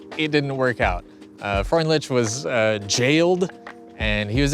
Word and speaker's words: Freundlich: Freundlich? Sorry, I gotta look this up. Y'all are gonna destroy me. Freundlich. Erwin Finlay. Freundlich.